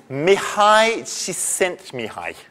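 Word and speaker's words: Mihály Csíkszentmihályi: say that guy um mihai she sent me hi I am told is the correct pronunciation um it's a Hungarian name uh although he lives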